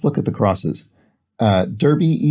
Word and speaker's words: derby: at the crosses uh derby eg or darby as it would be pronounced over here in britain as the hat response